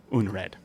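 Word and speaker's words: unræd: out of that um it's spelled u n r AE D uned okay um uh so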